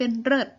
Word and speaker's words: เลิศ: เสียง สระ และ พยัญชนะ เลิศ ออก เสียง เป็น เริ่ด พี่ ออก เสียง เป็น เพศ